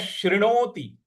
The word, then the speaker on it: शृणोति: मन्यश शृणोति, शृणोति, शृणोति, त पर छोटी की मात्रा है, तो शृणोतिश, शृणोतिश श्रुत्वा।